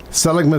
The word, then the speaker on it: Seligman: part I drove through that is it Seligman Seligman is how you say it out of in Arizona.